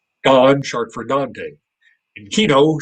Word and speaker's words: Don: It's not, Don is not short for Donald. It's short for Dante, which is spelled with an A. So I could have been Dan, but they chose to treat it phonetically. So it was Don, short for Dante, and Kino, short for Gioacchino.